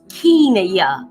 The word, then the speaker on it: Kenya: thank you so much, but it's Kenya, long E, not Kenya.